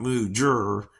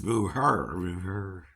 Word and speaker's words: mujer: Spelled mujer, pronounced mujer, but it has a J in it, right? It's not mujer. Englishman. It's mujer.